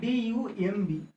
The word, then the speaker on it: dumb: So here dumb, D-U-M-B. Okay, but we will not pronounce B. So it will be dumb.